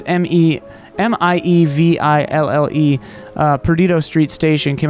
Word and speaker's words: Miéville: There was a way that the audiobook I pronounced it that surprised me, but it's Miéville.